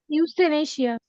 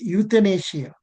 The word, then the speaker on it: euthanasia: one which which one houst Asia what Asia no sir I'm telling about no no no you pronouncing it wrongly euthanasia Asia sir youthanasia means